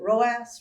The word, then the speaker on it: ROAS: on ad spend or roas some people pronounce it roast roast whatever you call